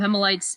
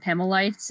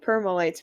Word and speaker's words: Pemalites: i'm going to be switching between pronouncing it pima lights and pemelites and that stuff i pronounced actually first i pronounced it permalites but then i realized there wasn't an r yeah i just was saying permalites too and then when